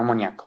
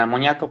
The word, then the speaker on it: amoníaco: Bien, no amoníaco. Por favor, no digan amoníaco porque si no después la profesora de química biológica les va a matar. Es amoníaco. Con acento en la I.